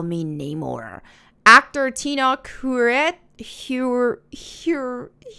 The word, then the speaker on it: Namor: my enemies call me Neymar actor Tina kuret here here uh pronounces the words Namor oh no more so Neymar instead of How It's traditionally pronounced Neymar producer Nate Moore explained